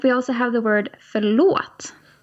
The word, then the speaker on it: förlåt: So let's hear these three sounds again, - "På". - "På". - "Dåligt". - "Förlåt". Okay. So it's a longer 'å' sound for all of these.